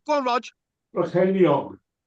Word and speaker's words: Brycheiniog: Brycheiniog. Right, excellent. What did he say? Did he say Ceiriog? No. Brycheiniog.